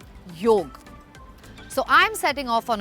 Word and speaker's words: yog: there is something about yog that I'm unaware of yes that is how it should be pronounced yolk so I'm setting off